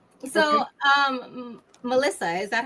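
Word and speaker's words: Malysa: Actually, I tell people my name, Melissa. M A L Y S A. If you flip it around, pronounce it again.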